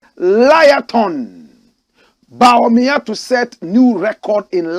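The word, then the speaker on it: Bawumia: Some people have turned his name around and they call him Baolaya. Correct pronunciation, Baomia.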